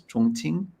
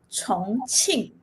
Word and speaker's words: Chongqing: How you pronounce this? Chongqing? 重庆.